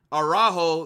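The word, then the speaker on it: Araújo: Araujo, that's how you say his name.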